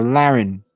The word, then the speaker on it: Lauren: this is nitpicky but it's pronounced more like baron or darren so laren laren marin laren see i got it uh